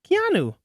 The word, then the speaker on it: Keanu: Keanu.